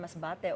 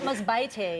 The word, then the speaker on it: Masbate: At least you said it correctly. Not Masbate. Yes, because she was afraid she was going to mispronounce it because we say it a different way.